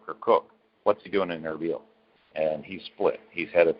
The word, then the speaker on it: Erbil: The sources say that he has fled from Erbil. In fact, it's spelled Arbil, but anybody that knows anybody from that region, it's pronounced Erbil.